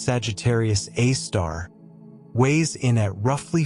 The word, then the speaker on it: Sagittarius A*: The supermassive black hole at the center of the Milky Way, Sagittarius A*, pronounced Sagittarius A star, weighs in at roughly 4 million solar masses.